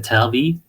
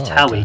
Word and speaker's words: TAWI: If you're Swedish, they pronounce it with a V accent, like a TAWI, but it's TAWI, okay.